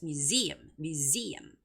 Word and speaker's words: museum: And the word museum has the second syllable stress, so it's museum.